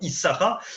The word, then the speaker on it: Issachar: salaire, Dieu m'a donné un cadeau, mon enfant Issachar.